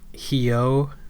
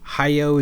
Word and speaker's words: Hyo: I can kind of understand like not knowing that Hyo is one syllable, basically. That's okay. If you pronounce it like Hyo, okay. Hayo is like, did you listen to anybody say it? Clearly not.